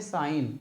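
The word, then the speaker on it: sign: यानी N eighty net यानी जी क्या है साइलेंट इससे पढ़ते हैं क्या इसको पढ़ते हैं साइन क्या पढ़ते हैं साइन एस आई जी एन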